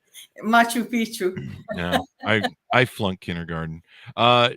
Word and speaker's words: Machu Picchu: should the ruins of Macho Pico in Peru the Mayans in Mexico I mispronounced that didn't I that's why you're laughing Machu Picchu no I've flown kindergarten